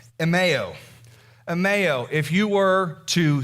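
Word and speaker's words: ἐμέω: The word is pronounced emeo.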